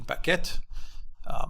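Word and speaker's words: Baquet: the New York Times the back whet the bucket that's how you pronounce his name anyway the executive editor decided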